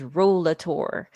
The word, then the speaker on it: Rollator: And I hear different pronunciations, but the official, what looks like on Google dictionary pronunciation is Rollator.